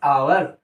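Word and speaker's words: hour: Letter तो एच है बट इसका प्रोनाउंसिएशन जो होता है वो आ से होता है, एन आवर, एन आवर, all time ऐसे ही लिखा रहता है।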